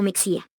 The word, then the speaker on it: Mexía: apellidos como Ximénez o Mexía. La pronunciación de esta X, en esas y otras palabras, es fricativa velar sorda, es decir, suena como J, constituye, por tanto, un error ortológico articularla como K es 23.23.